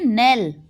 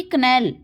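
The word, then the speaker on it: knell: ठीक है, इसको हम पढ़ेंगे नेल, ना कि कनेल। कनेल गलत हो जाएगा और नेल सही होगा हमारा।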